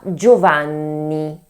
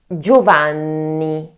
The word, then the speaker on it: Giovanni: The double N must be pronounced in a way more strengthened than a N alone, that's why we need